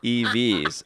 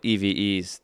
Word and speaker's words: evX: to make up for sean snub also it's pronounced evs oh i think i might just still go with eves to just rub it in for a little